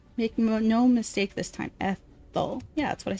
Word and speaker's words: Ethel: My name is Ethel. The th is pronounced by putting your tongue between your two rows of teeth. Make no mistake this time, Ethel.